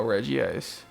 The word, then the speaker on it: Regice: of a crazy show I say Reggie rock Reggie steel so Reggie ice yeah I guess a Nintendo screwed the pooch on that 16 years ago and there's no way that can ever be corrected so just call it Reggie as yet people